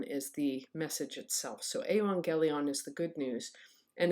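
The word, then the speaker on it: εὐαγγέλιον: gamma gamma is pronounced when two gammas come together it's pronounced as if the first one is an n and so you pronounce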